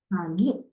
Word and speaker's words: 鍵: 鍵、 Kagi. So gi, it's kagi, kagi. Slightly nasal pronunciation is there.